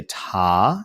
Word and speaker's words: te: seventh skill degree some people say ta instead of tay when they lower t and that's okay i don't like to do that because um then you have i use ta as a rhythm syllable for quarter note um and i don't want to have the same syllable for meaning two different things it gets a little confusing so i i stick with tay when i come to the